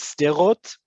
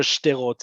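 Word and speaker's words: שדרות: The proper Hebrew, the official Hebrew is sterot, but you're going to hear shterot as well. Both of them are acceptable.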